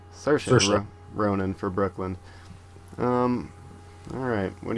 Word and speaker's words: Saoirse: Rampling for 45 Years, and how did we pronounce her name? Saoirse. Saoirse Ronan for Brooklyn.